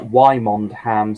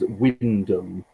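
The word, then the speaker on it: Wymondham: england the world where wymond ham somehow becomes windum so i don't quite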